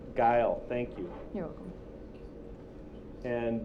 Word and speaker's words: Gile: pronounce your name correctly it's guile guile thank you you're welcome